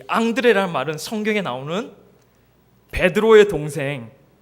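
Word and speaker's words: André: 이 앙드레라는 말은 성경에 나오는 베드로의 동생 예수님의 제자 안드레에서 이 이름을 따왔다고 합니다. 그러니까 안드레의 프랑스식 발음이 앙드레 이렇게 해가지고 했다고 합니다.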